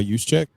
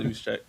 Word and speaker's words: Juszczyk: We're fading Brock Purdy because of Kyle Juszczyk. No, I'm not fading him. I forgot about Kyle Juszczyk. And thank you for pronouncing his name, because I forgot how to pronounce that motherfucker.